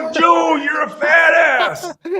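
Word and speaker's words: Samoa Joe: Oh man, Steinermath will he like smashes syllables together, right? Like it's not Samojo, it's Joe.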